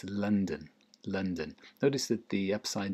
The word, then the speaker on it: London: It's not London. It's London. London. What's the difference? London. There isn't any difference, is there, really? Just stress on the first one and not on the second one.